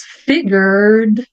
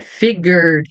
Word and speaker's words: figured: ficar figured tá é figured não pronuncia o e tem exceções quando a